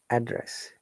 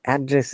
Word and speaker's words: address: do not use any address remember the word address is a double syllable could be known and depending on the tone and the correct stress so address is known but address is verb i've explained in many